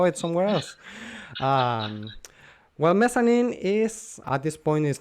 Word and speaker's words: Mezzanine: Mezzanine by Massive Attack. And I know that's the pronunciation.